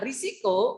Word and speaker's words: risiko: Jadi kalau tulisannya risiko, membacanya pun risiko.